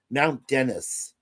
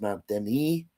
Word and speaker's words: Dennis: to this place called Mount Dennis, which maybe I should pronounce Mount Deni. No, but that would be wrong because that's only with one N, not two.